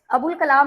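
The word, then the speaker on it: ابوالکلام: नहीं ये रूल है कि अलिफ और लाम दोनों इकट्ठे आएगा और अलिफ की आवाज साइलेंट हो जाएगी। लाम की आवाज आएगी।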